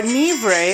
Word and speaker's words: Nevers: Never Town or Nebre as they pronounce it is located in central France. It is southeast of Paris. It is situated on the right bank of the Lur River. Nevers is a beautiful city in France.